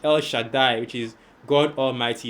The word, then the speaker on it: El Shaddai: Al Shaddai, of course, the letter will pronounce it El Shaddai, right?